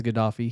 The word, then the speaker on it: Gaddafi: Yeah, I believe it's Gaddafi.